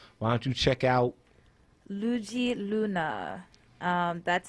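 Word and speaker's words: Luedji Luna: this afro-brazilian thing why don't you check out lugi luna um that's spelled l-u-e-d-j-i space l-u-n-a all right so there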